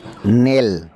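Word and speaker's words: kneel: নেল, আটু গাড়িয়ে বসা। নেল, আটু গাড়িয়ে বসা, এখানে কের উচ্চারণ নেই।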